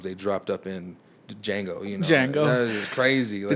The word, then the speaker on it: Django: Django. That is crazy. The Like D is silent.